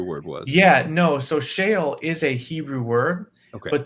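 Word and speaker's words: Sheol: e o l so it's pronounced the same whether it's Shale in Hebrew shale in English it said the same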